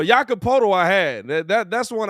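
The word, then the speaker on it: Jakob Pöltl: starving me too hey say this man's name again jacob jacob you know how to say it on the spurs hey bro hey hey listen that's why i'm here i told her i got y'all no no yakapoto i had that that's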